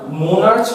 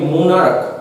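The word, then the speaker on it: monarch: কিন্তু যখন CH এর উচ্চারণ ক হয়ে যাবে, ক, অর্থাৎ মোনার্চ বলছি না আমি, মোনার্ক, ক আসছে, মোনার্ক, তখন আমাকে প্লুরাল করতে গেলে কি করতে হবে?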